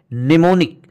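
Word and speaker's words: mnemonic: है जरा देखते हैं एम कहां साइलेंट होता है जैसे एक वर्ड है निमोनिक निमोनिक का मतलब है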